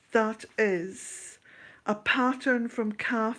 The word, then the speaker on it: Kaffe: Calf is spelt Kaffe, Facet Fasset.